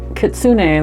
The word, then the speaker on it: Kitsune: Kitsune.